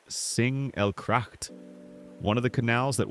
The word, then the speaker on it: Singelgracht: We're beginning our journey here on the Singelgracht, pronounced Singelgracht, one of the canals that once marked the very edge of the old city.